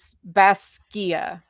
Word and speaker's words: Basgiath: So it's Baskia. And Darna Urim and Darna means second honor. It's pronounced An Darna Urim.